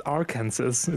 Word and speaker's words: Arkansas: differently it's so weird it's like Kansas and Arkansas no it's our cancers yes exactly Arkansas yay